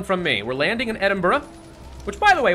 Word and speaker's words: Edinburgh: We're landing in Edinburgh. Which, by the way, why is it pronounced Edinburgh? Come on, that looks like Edinburgh. Or Edinburgh, at the very least. But Burra? It's like an extra syllable.